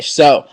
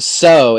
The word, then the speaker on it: so: So, but notice the S sound is not pronounced like an S, it's pronounced like a Z.